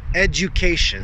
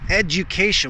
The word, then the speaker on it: education: Edu, edu, and it's a edu, education. So make that U a full U, education.